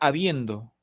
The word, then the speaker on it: habiendo: Esta es la palabra habiendo. Por supuesto, habiendo no es habiendo, ni habiendo, es habiendo. El acento se encuentra en la segunda posición silábica. Esto es la penúltima sílaba.